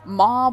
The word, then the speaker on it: MOAB: M Moab gameplay Moab mob whatever all these people call it I prefer to call it the Moab and I feel that's how it is pronounced properly but by the way